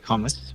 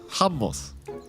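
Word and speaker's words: hummus: I can get it don't say it like that Jonathan I just said it correctly you could surely imitate what I said could you could you could you repeat it for my uneducated self humos humos it was better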